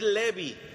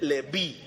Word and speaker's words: Leví: Leví tiene acento en la i. No es Leví. No es Levi ni es Leví, es Leví.